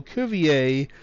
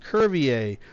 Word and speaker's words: Cuvier: For example, Cuvier, as in Georges Cuvier, was pronounced Curvier twice.